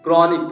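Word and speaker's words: chronic: है technology technology तो यहां पर क्या हुआ बेटा हा आया लेकिन उसका साउंड क्या है साउंड है ही नहीं क्रॉनिक क्रॉनिक मतलब क्या होता है पुराना हा आई उसका साउंड है नहीं इसका चाइल्ड तो हा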